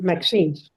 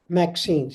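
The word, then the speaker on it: MXenes: Maxines. Uh so I'm I'm I'm pronouncing it right. Maxine. Maxines. Yes. Maxine. Okay. So you pronounce the A but it's not there.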